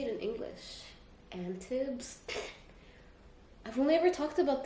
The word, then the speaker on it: Antibes: Antibs? I've only ever talked about this with Mariane in Arabic so I naturally just... it's Antibes, right?